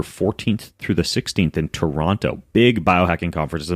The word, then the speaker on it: Toronto: If you don't want to sound like you're not like in the know, it's Toronto. Don't pronounce the second Toronto. T. You don't pronounce the second T.